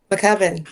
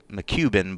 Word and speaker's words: McCubbin: McCubbin, yes. Yeah, cuz it could it could looks like you could sell it as McCubin, but McCubbin.